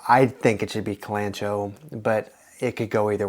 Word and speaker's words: Kalanchoe: is the pronunciation because there are multiple ways to pronounce this that I've seen uh I've seen clango I've seen kenoi uh I'm going to go with colano because the more I think about words that have ch in them the more I